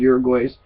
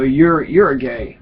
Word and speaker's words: Uruguay: co-founder of the organization Code Pink and the Global Exchange, wrote 10 Reasons to Love Uruguay's President Jose Mujica.